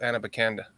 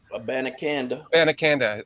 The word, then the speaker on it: Abanikanda: If we drafted another running back, I would love Anabakanda. Anabakanda, is that how you pronounce it? Yeah. Abanikanda. I got the 2 wrong, the N and the B, but I would love Abanikanda on this team.